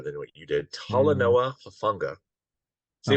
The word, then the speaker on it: Talanoa Hufanga: So I'm going to go with my number eight is I'll try to pronounce his name even better than what you did. Mm, Talanoa Hufanga.